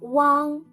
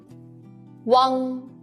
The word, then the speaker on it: uang: Let's learn the final uang together in this class. When you pronounce the final uang, make the u sound, then quickly slide to the ang. Uang.